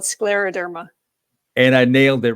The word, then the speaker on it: scleroderma: do you say that I'm sorry it's called Scleroderma and I nailed it right before we began